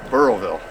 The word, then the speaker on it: Burrillville: How do you pronounce the name of the town? Burrville. Burrillville.